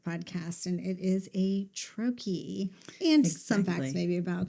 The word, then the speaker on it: troche: That's a troche. Done. End of podcast. That's it. And it is spelled Troche. So we've heard troche and but it's troche is how you pronounce it, and Troche if you're listening and